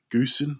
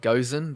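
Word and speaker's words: Gosen: to use is the Goosen, I believe it's pronounced Goosen. Yeah, I pronounce it Gozen, but I hear a lot of people Uh, say I Goosen say as well.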